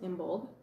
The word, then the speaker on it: Imbolc: So, for Imbolc, I will pronounce it Imbolg, and Bríod for Bridget.